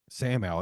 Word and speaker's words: Samael: Samael, there you go.